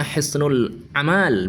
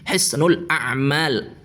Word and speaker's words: Hisnul A'mal: Jadi kalau dibuat atau dibentuk menjadi bentuk jamak plural, maka cara bacanya begini, Hisnul A'mal. Hisnul A'mal, bukan Hisnul Amal.